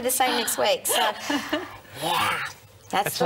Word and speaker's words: Yea: And hello to all of our friends in country Victoria, in the town of Yea, which is spelled Y-E-A.